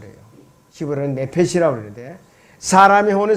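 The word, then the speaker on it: נֶפֶשׁ: 혼은 헬라어로 이제 푸시케라고 발음을 해요. 히브리어는 네페시라고 그러는데 사람의 혼은 세 가지 요소로 이루어졌어요.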